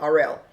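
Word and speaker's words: Arel: He says his name is Ariel, but it's spelled A-R-E-L, Ariel.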